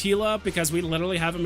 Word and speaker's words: Gila: heck K hiate but I'm also the guy that still pronounces Gila with the heart I I couldn't give I couldn't give a like if you say Gila or hila technically it's hila because we literally have